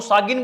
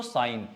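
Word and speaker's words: sign: याद रखना, जी के बाद कभी भी एन है, जैसे देखो साइन मारते हैं हम, पर साइन करते हैं, इसको सागिन बोलोगे भाई? नहीं, तो साइन।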